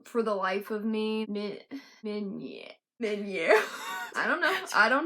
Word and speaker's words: Meunier: Meunier. For now, I guess we're just gonna call it manure.